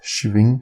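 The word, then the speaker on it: שִׁבְעִים: 70 é a mesma, mas como pronunciar? Então, Shavuim, semanas, Shivim, 70.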